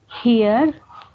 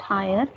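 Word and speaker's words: hier: Here, not higher, here.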